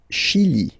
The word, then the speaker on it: Chili: Le Chili, le Chili. Okay, remember, CH, sh, okay, Chili, le Chili.